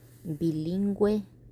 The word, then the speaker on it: bilingüe: Pingüino, bilingüe, cigüeña, vergüenza. And they all have two little dots on top of the U because you are allowed to pronounce the U even though it's next to the G.